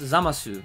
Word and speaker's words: Zamasu: up being zamas because normally in Japanese words the U at the end of the word is silent so you never really